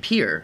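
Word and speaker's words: Pierre: I hear what cap some Pier I think it's pronounced well maybe that's like that's right Pier yeah maybe that's like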